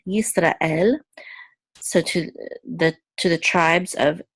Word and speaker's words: Yisrael: here, the shiva silence, this is yis, and this is a resh with a kamatz, which says ra, and this is a tzere, and then the aleph is silent, and the lamed says la, so this is el, Yisrael, so to the tribes of Israel.